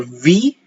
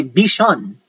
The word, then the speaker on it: vision: Also, the word vision with the V-I-S-I-O-N. We don't say vision. We say vision. That is the proper pronunciation.